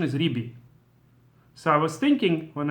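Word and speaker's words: רבי: the correct pronunciation and in all theic the pronunciation is ribi so I was thinking when I said shall shabbat shalom rabi I should have said Shalom shabbat shalom ribi according to the correct pronunciation of uh since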